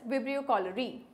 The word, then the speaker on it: Vibrio cholerae: Common among them is Vibrio cholera, and which causes cholera, or you can say the name could be pronounced as Vibrio cholerae.